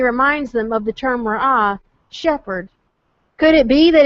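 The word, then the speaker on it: ראה: The word for behold there is ra'ah. It's spelled resh, aleph, hey. It sounds exactly like the term for shepherd, which is also ra'ah. The difference is it's spelled with the ayin instead of an aleph.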